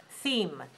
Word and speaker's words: theme: Now pay attention because some of you mix up between T-H-E-M, them, and T-H-E-M-E, theme, theme.